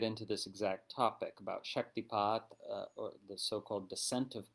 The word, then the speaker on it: shaktipāta: And we're going to get into this exact topic about shaktipāta, or the so-called descent of power or descent of grace. It can be pronounced shaktipāta as well, and even shaktinipāta, and its relation to dīkshā